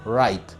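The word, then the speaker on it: write: w y decimos right la doble uno se pronuncia la de blues es muda en este verbo entonces es right con su pasado road noten también que la w no se pronuncia bueno amigos hasta aquí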